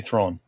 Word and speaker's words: Thrawn: Wait, so how do you say Thrawn? Thrawn. I say Thrawn. More open.